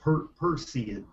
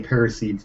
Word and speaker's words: Perseids: It's pronounced Perseids. Perseids. Perseids. I looked it up online. It's like I say Parasides, but you know.